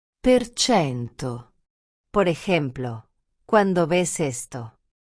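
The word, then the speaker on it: per cento: decimos porcentaje ni símbolo, simplemente decimos el número y luego decimos perchento. El símbolo por cento solo nos ayuda a saber que estamos hablando de porcentajes, pero cuando hablamos lo que pronunciamos es perchento.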